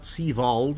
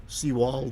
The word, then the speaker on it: Seawald: If you're from Denver, Denverites, Jonah Seawald, it's not Seald, it's Seaw Wald with a W.